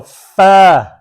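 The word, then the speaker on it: ف: And it's pronounced from the edge of the two upper front teeth, touching the inner side part of the lower lip. Okay. Like that. Okay. So fa.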